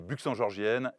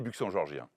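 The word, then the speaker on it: Buxangeorgiens: C'est très simple à prononcer. Les Buxan-Georgiennes et les Buxan-Georgiens. Buxan-Georgienne, j'ai bien dit? Absolument. T'as vu, hein?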